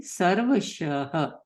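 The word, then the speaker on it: सर्वशः: And the one below sarvashaha, that is normal sh, which is shalgam sh. So we'll say sarvashaha.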